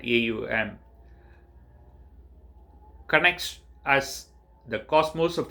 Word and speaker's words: Om: as it is evident the word om it's pronounced at aum connects as the cosmos